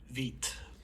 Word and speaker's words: Vite: with let's talk about vit the model I did check it is pronounced that way you can call it vite but it's supposed to be French for quick that's what I'm told